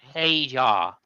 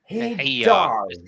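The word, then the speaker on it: Hadjar: Yeah, it's by the way, it's pronounced Hajar. Hajar.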